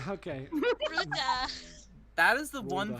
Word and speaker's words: Bruder: Wait, how do you say brother in German? Bruder. Bruder. Yeah. Okay. Bruda.